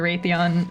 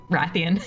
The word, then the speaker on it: Wrathion: Drazza being kind to Rathon. Oh god, I Ratheon. Everyone knows I'm a fake fan. I thought I broke myself with that habit. He just pronounces the French way. Rathon.